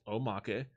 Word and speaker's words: omake: It also includes an omake box, pronounced omake, Japanese for extra, which features cardboard miniature standees of all 22 characters, 4 analog stick covers.